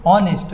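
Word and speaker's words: honest: तसेच वर्ड कोणते बघा एच एन एसटी याला काय नेस्ट नाही म्हणायचं याला काय म्हणायचं नेस्ट काय म्हणायचं नेस्ट इथ एच कसा आहे सायलेंट आहे म्हणजे पुढे चालून आपल्याला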